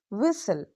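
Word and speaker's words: whistle: डब्ल्यू एच आई एस टी एल ई विसल। इफ T comes after S इट is often silent. So don't say Liston और वििस्टल keep it smooth.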